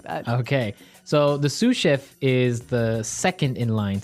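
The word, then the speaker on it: sous: to our second word suf suf suf suf s o u s so the S is silent because it's like a French word yeah something like that okay so the suf is the second in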